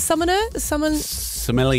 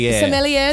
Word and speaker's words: sommelier: Is it summoner? Sommelier.